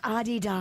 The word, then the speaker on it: Adidas: So, the correct pronunciation is Adidas.